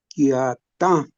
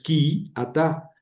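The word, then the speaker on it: כִּי־אַתָּה: Fíjense que tiene un MAF. Esta línea se llama MAF. Y quita el acento de la primera y lo deja donde va el acento de la última. Entonces, Jerónimo leyó bien, leyó quiatá como si fuera una sola palabra, en realidad son dos, pero la primera pierde el acento, ¿verdad? Entonces no es qui ata, sino quiat. Eh, vamos a ver.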